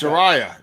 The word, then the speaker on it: Saraya: It's Soraya, not Paige. Can't call it Whatever, Paige. dude. Sorry, All I'm right. gonna call you out. Saraya.